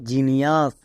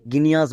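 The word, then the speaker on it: genius: automatic মনে থেকে যাবে এখানে দেখো জি এর পরে ই আছে তাই এখানে জি এর জন্য কি হলো বর্গীয় জো তাই এটা দাঁড়ালো জিনিয়াস একে আমরা কেউ ভুল করে গিনিয়াস বলবো না কারণ জি এর পরে ই আই ওয়াই থাকলে বর্গীয় জো জি এর পরে ই আছে আছে তাই এখানে বর্গীয় জো হয়েছে তাই এটা কি দাঁড়ালো জিনিয়াস গিনিয়াস নেক্সট একে আমরা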